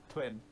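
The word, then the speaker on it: Twyn: pass we've ski we've twine or twin however you pronounce that twin there you go it's pronounced twin because there's a gimmick honestly give me your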